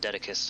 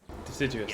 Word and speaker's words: Deciduous: difference between the areas of Dedicus and coniferous forest through the woodlands as well. Dedicus? Dedicus. Can't remember how you're supposed to pronounce it. Dodecahedron. Deciduous.